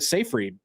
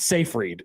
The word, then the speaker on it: Seyfried: And Amanda Seyfried is also in that movie. Oh, she's in that too. That's how you say her name? So I thought it was Siegfried. It's not Siegfried?